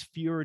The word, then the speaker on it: FURE: start button because if you guys go it's fewer dot cab right free dot cab f-u-r-e dot c-a-b um people the the writer everybody i just said fear dot cam because that's how you'll spell it in your head but yeah yes yeah everybody that they look it's like no it's free but it's okay because